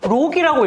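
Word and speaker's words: LOQ: 이게 에로큐를 검색을 해보니까 록이라고 읽으래.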